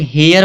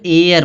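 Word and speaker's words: heir: आपको मतलब उसका कोई नियम नहीं होता क्यों साइलेंट है? तो वो आपको रटना पड़ता है। जैसे यहां दिया है हेयर। कुछ लोग हेयर पढ़ेंगे। इसको हेयर नहीं पढ़ा जाएगा। यहां एयर पढ़ा जाएगा।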